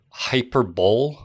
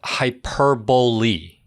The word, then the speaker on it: hyperbole: Look, on the subject of pronunciations, Tony, you said the word hyperbole. Yeah. Yeah. No, it's pronounced hyperbole.